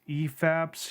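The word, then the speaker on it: ephapse: bad efaps but I I checked the dictionary and that's actually how you pronounce it at least that's what the online dictionary told me I'm like there's got to be there's got to be a different way to pronounce this nope it's e-faps so I don't I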